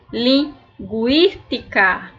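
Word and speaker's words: lingüística: agur reo agorero linguística Olha o que eu disse para vocês lingu eu vou ter que pronunciar o u porque ele tá com o trema e o i linguística guante neste caso aqui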